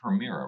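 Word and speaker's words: Permira: so maybe we should start with it is premira right that's how I pronounce it yes it's private Equity Firm okay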